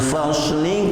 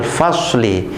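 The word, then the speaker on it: الْفَصْلِ: Inna yawmal fasli kana miqata. Inna yawmal fasli kana miqata. Pemirsa yang berbahagia, ini hati-hati pada pengucapan inna yaumal fasli. Maka huruf shad ini adalah siul, ya, jangan sampai fas seperti itu, terus fas seperti itu.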